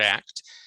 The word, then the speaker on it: ACT: acceptance and commitment therapy or act as it's often abbreviated and pronounced as a word act it teaches us how